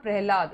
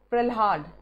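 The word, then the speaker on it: प्रल्हाद: PRLHAD है, ठीक है, इट्स नॉट प्रहलाद, इट्स प्रहलाद, ऐसे करके स्पेलिंग है ये।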